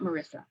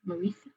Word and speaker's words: Marisa: It's not Marissa. Marisa.